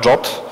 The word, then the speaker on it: JWT: I zanim powiem o JSON Web Token, JWT, czy też jak się niedawno dowiedziałem po angielsku, to się wymawia JOT.